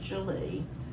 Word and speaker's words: Gwili: Yes, I know when you see it spelt, you think there's no way that that's how you pronounce it, but it's pronounced Julie.